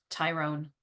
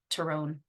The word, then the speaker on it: Tyrone: for mana manahan and terone not Tyrone terrone um in kuk which